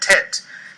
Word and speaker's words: teth: These days, readers and speakers of Hebrew tend to pronounce this letter like the letter T in telephone. Originally, however, this letter was almost certainly pronounced like a T with the back of the throat, or pharynx, being constricted, as in the Arabic letter ta.